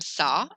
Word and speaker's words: ça: So a cédille is pronounced like the letter S, sa, comme si, comme ça, or ça va.